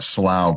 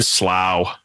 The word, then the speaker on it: Slough: So what's the and I always call it slough. You don't have to pronounce it the way James pronounces it. There's fine, slough.